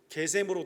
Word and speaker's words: 게셈: 그래서 이게 히브리 발음으로 하면 게셈이에요. 그래서 ESV나 요즘 마던 트랜슬레이션은 게셈으로 되어 있습니다.